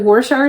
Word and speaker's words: Worcestershire: Isn't it like Gloucester is like Worcestershire sauce? That's spelled very differently, but it's actually Worcestershire.